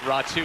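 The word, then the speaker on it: Raty: to help me out the veteran raw two is spelled r-a-t-y for those keeping track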